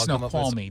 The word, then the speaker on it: Snoqualmie: I was like, let me get up here and see Snoqualmie, and then it's Snoqualmie, dummy. You had an extra syllable.